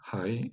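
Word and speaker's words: hej: En danois, mais avec un J, H-E-J, Hei, et en suédois, H-E-J se prononce, attention, Hei.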